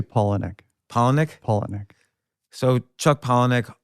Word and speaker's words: Palahniuk: By the way, what's the best way to pronounce your last name? Because I've pronounced it 17 different ways this past week. We say Palahniuk.